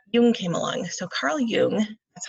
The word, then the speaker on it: Jung: more um alright Newman came along so Karl Yune that's how you say his name is you